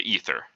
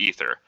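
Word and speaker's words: aether: they call this medium The Ether the a is silent and Michaelson and Morley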